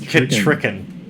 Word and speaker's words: Ketricken: I'm pretty sure it's pronounced Ketricken.